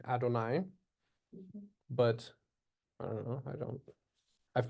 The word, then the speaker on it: Adonai: So anytime you come across that word, a Jew is going to say Adonai.